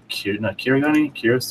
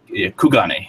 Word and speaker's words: Kugane: It is the one that's connected to Kirigane. What the? How do you pronounce that? 1 second. Kugane.